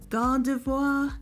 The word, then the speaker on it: Gardevoir: goes on to evolve into Gardevoir is how you say it sounds very French let me know in